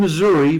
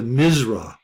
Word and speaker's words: Missouri: the same sentence all people from Missouri often elide Missouri into misra television has gone a